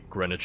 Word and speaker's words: Greenwich: that makes sense because we also say Greenwich here like this a Greenwich Connecticut and that's how you pronounce it but it reminds me